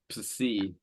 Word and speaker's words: psi: The consonant psi, in that consonant, the P is not silent. You pronounce both. It's psi.